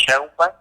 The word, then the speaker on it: Sheinbaum: La señora esta de la Ciudad de México, no recuerdo el nombre, Sheinbaum, pero así se pronuncia, ajá, que pues bueno, que por qué se están viendo que Argentina es Argentina, España es...